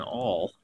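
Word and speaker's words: awl: I pierce a hole in it with an all um a sewing all it's spelled a WL um and anyway it's just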